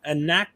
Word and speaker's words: Anaxagoras: How do you pronounce this? Anaxagoras.